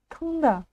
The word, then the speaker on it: тыңда: Нужно напомнить, как произносится «н» с хвостиком. Мы кончиком языка тянемся к верхнему небу и, не дотягиваясь до него, произносим обычную русскую букву «н». И у нас получается сонорная буква «н». Либо в помощь вам английский язык и сочетание букв «н» и буквы «g» в слове English. English. English.